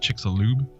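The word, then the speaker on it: Chicxulub: no I'm saying it wrong chick it's it's pronounced chickalo it's chickalo okay chielo yeah chickalo um found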